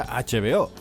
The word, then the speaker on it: HBO: de cine y series h veo que podría leerse vo pero se pronuncia h veo sigue el link en